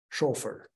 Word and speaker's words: chauffeur: Chauffeur, I pronounce it in Dutch.